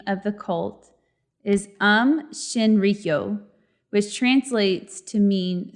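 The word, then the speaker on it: Aum: caused by the cult it's spelled Au M but the way you pronounce it is um that I will be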